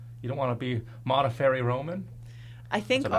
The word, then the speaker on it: Modafferi: I'm also looking forward to having my name be easily spelled and pronounced. Roman. So easy. Modafferi is not that difficult.